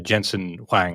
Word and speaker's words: Jensen Huang: Okay, The NVIDIA CEO, Jensen Huang, I think is how it's pronounced.